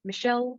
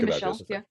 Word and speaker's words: Michel: I've heard different pronunciations. Michel. I've always heard Michelle, but I'm not sure. I've always heard Michelle as well. It's German. So Anneliese Michel is what I most recently heard. So that's I'll be pronouncing it that way.